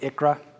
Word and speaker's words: ICHRA: that's a mouthful so I'm gonna phonetically pronounce it Achra not much just a little bit shorter easier for me to say this is new like